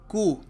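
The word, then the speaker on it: coup: In Pakistan a military कू, ये शब्द है कू, इसको कहते हैं, इसका मतलब होता है तख्ता पलट। कई लोग इसको कूप पढ़ देते हैं, पी इसका साइलेंट होता है, कू, ठीक है।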